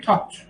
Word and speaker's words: taught: خب اینو تلفظش کنیم taught. همین. مثلا thought معمولا تلفظ این واژگان رو معمولا زبان آموزا به خورده عجیب و غریب تلفظ میکنن.